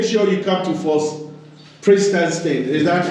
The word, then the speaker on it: Prinzenstein: Viewers, make sure you come to Fort Prinzenstein. Is that how you pronounce it? Exactly, Fort Prinzenstein.